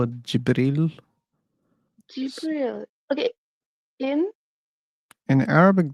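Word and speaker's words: جبريل: But in Arabic, it is pronounced as Jibril. Gabriel. So Gabriel. they're the same concept, right? Mhm. Like the names are similar. Gabriel, Jibril, they're from the same word.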